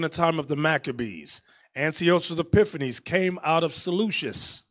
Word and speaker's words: Antiochus: These are our people that were scattered throughout Asia Minor, put there by King Antiochus, or Antiochus, some people pronounce it, the third.